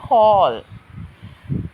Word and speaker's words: whole: බලන්න pronunciation whole කියනකොට W silent letter එකක් විදිහට තමයි silent sound එකක් මෙතන W කියන්නේ. එතකොට pronounce වෙන්නේ H වල ඉඳලා h o l whole.